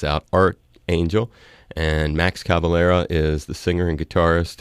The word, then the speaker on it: Cavalera: from soul flies out art angel and max Cavalera is the singer and guitarist and he was